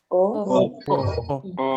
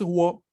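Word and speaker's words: を: O. Exacto. Una es wa, ¿no? Wa. Y en cambio la otra no es wo, es o. Ujú. Entonces, sí, tiene la misma pronunciación que la vocal o.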